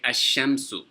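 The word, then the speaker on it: الشمس: When there's an alif and a lam attached to a sun letter, you don't pronounce the lam.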